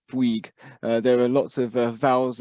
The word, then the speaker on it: Bouygues: was Peter Bates, that Bouygues is pronounced B-W-E-E-G in English, Bouygues.